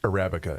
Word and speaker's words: Arabica: know whatever the future it's pronounced Arabica in all serious Arabica